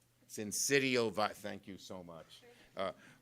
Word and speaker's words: syncytial: Respiratory sinusitis? Syncytial virus.